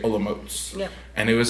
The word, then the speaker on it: Olomouc: a little town called Olomouc. That's how you pronounce it. It's like spelled like Olomouc, but you say Olomouc.